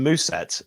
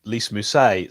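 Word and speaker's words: Lys Mousset: apparently he's returning uh chris what are calls in moose set uh but we all we all as fans say lisa mussay so okay who knows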